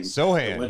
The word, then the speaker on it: Sochan: But Jeremy Sochan, I think that's how you pronounce his name. Sohan, yeah.